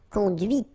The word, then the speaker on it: conduite: C'est la voiture que tu as conduite. And that's when you hear the difference between conduit, because remember, final T is not pronounced, conduit, here, and then the feminine, conduite.